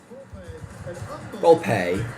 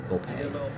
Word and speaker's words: Volpe: Volpe. There's some pronunciations, like, I've seen a Yankee pronunciation sheet say, have it be VOLP dash, or VOL dash PAY. Volpe.